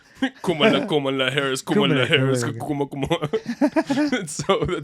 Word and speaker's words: Kamala: Kamala, yes. Kamala. Kamala. Carmela? Kamala. How do you say it? Kamala. Kamala. Kamala. Like Harris.